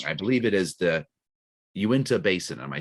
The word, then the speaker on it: Uinta: pronouncing this wrong, I believe it is the Uinta Basin. Am I saying that right? Perfect. Yep. Okay. Uinta Basin.